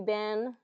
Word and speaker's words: been: Oh, and again, been, how have you been? It's more pronounced B-I-N.